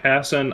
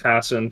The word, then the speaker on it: Hasan: thing with a uh hassan i did i say hassan that's how i say his name yeah it's hasan thank you um the